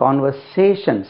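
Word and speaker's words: conversation: உரையாடல் என்பது ஆங்கிலத்தில் பாருங்க கான்வெர்சேஷன் சா அது கான்வெர்சேஷன் கிடையாது எல்லாமே கான்வெர்சேஷன் ஜெட் வச்சு உச்சரிக்கிறார்கள் ஜெட் உச்சரிக்க கூடாது கான்வெர்சேஷன் கான்வர்சேஷன் கான்வர்சேஷன் கான்வர்சேஷன் அப்போ உரையாடல் என்பது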